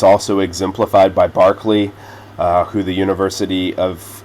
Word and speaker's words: Berkeley: His name's Barkley. Uh a little bit different way that we we pronounce that that name.